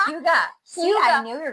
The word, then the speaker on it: hygge: I almost just said Hygge. Did I just say it wrong? Hyoo-guh. It's Hyoo-guh.